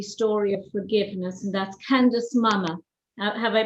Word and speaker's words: Candice Mama: but an extraordinary story of forgiveness and that's candace mama have i pronounced your name correctly oh you did a